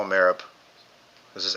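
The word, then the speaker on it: Merab: I call him Marab. This is M E R A B. Marab. Okay. Because in the UFC there's a guy spelled like that and they call him Morab.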